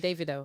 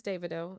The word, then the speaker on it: Davido: as they should say I wanted to see how you pronounce his name okay you said Davido that's because like a Nigerian person told me his name is Davido you know but I've heard yeah it's Davido um it's Davido I I think he